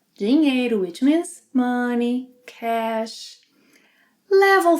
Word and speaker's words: dinheiro: Then we have the NH sequence, which you already know must be pronounced as one sound, ñ, ñ, yeah?